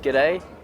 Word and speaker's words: G'day: Okay, just like g'day.